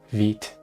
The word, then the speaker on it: Vite: make you a basic folder structure okay trying Vite online I don't want to try it online I want to try it locally like I'm making an actual app um vit oh it's pronounced vit okay create fight latest